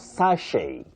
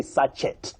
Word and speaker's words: sachet: Then we have sache. Sache. Don't say sachet if you're speaking English.